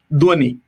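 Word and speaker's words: Dhvani: feel bad if you are not able to pronounce it as beautifully as Reverend Daniel does it. Say it one more time. Dwani. Dwani Hermeneutics. Yes, you're correct. You are invited to work on Dwani Hermeneutics.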